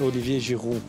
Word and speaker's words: Olivier Giroud: Well, in French, it's Olivier Giroud.